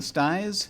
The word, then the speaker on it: styes: are you saying the styes is that styles mm-hmm hey spell that s-t-y-e-s oh okay okay how exactly it sounds like yeah it's like the plural of stye one would expect there